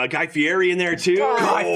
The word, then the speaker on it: Fieri: Berry, Guy Fieri. That it rhymes too.